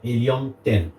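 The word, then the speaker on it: Helium 10: et le deuxième c'est helium ten donc hium comme l'éum ouais comme de l'éum 10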